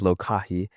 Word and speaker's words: Lokahi: Lokahi, although it's pronounced many ways here in the Midwest, it is Lokahi, and it's a Hawaiian word which means unity or agreement.